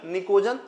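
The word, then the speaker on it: pnictogen: कि पीवी इज निकोजन निकोजन है ना प साइलेंट होता है निकोजन जो होते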